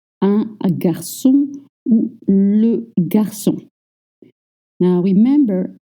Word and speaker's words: garçon: Remember the little sign that you see under the C turns K into S.